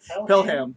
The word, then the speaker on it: Pelham: Is that how you pronounce it? Pelham, yeah.